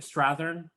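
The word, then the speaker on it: Strathairn: is a good guy this was David strathearn that's how you say it um but the uh not that my pronunciation is perfect but better it's much better the uh at one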